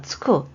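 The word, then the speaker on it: 着く: 보통체에 붙여주시면 되고 그래서 여기에 도착하는 거니까 츠쿠. 여러분 보세요. 요 한자가 요거 키루라고 읽으면 옷을 입다고요. 츠쿠라고 읽으면 도착하다예요.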